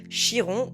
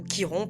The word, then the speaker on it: Chiron: En astrologie, il existe un point hyper intéressant, un astéroïde qu'on appelle Chiron ou Kiron, peu importe comment vous le prononcez, le Sentor guérisseur.